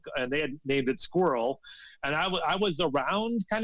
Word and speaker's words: SQWRL: them was better than the name Squirrel, which is what we ended up having, which is spelled SQWRL, and we're on iTunes